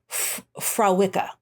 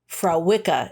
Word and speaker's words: Fréwaka: I do, but I want to pronounce it correctly. Fréwaka. Fréwaka is how you.